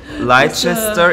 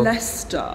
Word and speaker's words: Leicester: to see him anyway lichester is written and pronounced so Lester Lester I'm so sorry